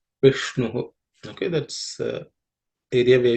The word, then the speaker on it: Vishnu: are no aspirated consonant, but the ish is a cerebral sh, so the tongue has to be raised. The tip of the tongue should point upwards. You bend the tongue, point it upwards, and say Vishnu.